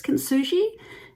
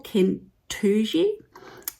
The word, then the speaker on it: Kintsugi: beautiful, now pronunciation wise, I think it's Kintsugi, but it could actually be, according to Google, Kintsugi. There's lots of different pronunciations of it, and yes, I googled